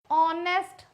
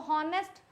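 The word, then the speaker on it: honest: चलो राम is dash ऑनेस्ट मैन। इसको हॉनेस्ट बोलोगे तो गड़बड़ हो जाएगा भैया। बोलना है ऑनेस्ट।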